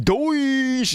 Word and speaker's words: DOGE: Yes, Doge is how you pronounce that. I don't care what anybody says. It's got the word Doge in it. Doge. That's how you pronounce it, Doge.